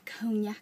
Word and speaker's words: cognac: the tan color, the cognac color. I'm surprised I can say it right anyways because it has a G in there.